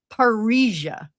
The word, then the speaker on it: Parrhesia: Parrhesia. Oh, also sounds like Paris, but that's not how it's spelled.